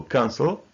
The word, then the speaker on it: cancel: For example, cancel, listen, suffer, and visit. Cancel is different. It has two syllables, but the first syllable is stressed. So we say cancel, not cancel.